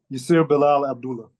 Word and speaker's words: Abdullah: middle name as well all of it okay Abdullah okay so can you talk to me a